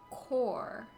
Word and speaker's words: Corps: Core. So the PS is silent?